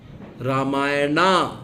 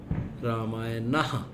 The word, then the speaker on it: रामायण: नहीं है लॉर्ड राम रामायना नहीं रामायण तो आप सभी को